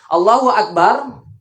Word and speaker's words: Allahu akbar: diperhatikan Bagaimana cara membaca Takbiratul Ihram yang benar allahu akbar allahu Akbar bukan Allahu Akbar Allahu Allahu akbar